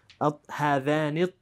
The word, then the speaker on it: الطالبان: Good, but when you say make sure that the lam shamsiya is really not pronounced at all, and you say هذان الطالبان.